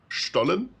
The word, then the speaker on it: Stollen: It's pronounced Stollen, so like you would write it the first time. But in German, 90% of the time, if you write ST, it's pronounced ST.